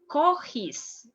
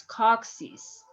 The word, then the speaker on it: coccyx: Coccyx, if we follow the same rule like here, you will say cochis, and it's not, it's coccyx.